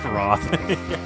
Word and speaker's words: Wroth: That's not how you spell it, though. Oh, no. Well, if you take out the W. Yes. Roth.